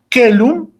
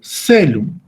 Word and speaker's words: caelum: que significa la alianza tenemos la palabra caelum que en la pronunciación clásica se debe de pronunciar como la letra k y en la pronunciación italiana se debe de pronunciar como la sede de casa es decir que en el latín clásico caelum se pronuncia como que lo pero en la pierna se pronuncia como celu y así sucesivamente podemos